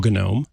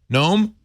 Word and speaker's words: GNOME: with frames dropping again isn't it gnome yeah I just like how you say it okay it's not we don't just say knock it out yeah there are there Manjaro lets you use different desktop we were talking about those desktop environments and no I'm gonna you know it's spelled g-n-o-m-e it's from the gnu people gnu I've been saying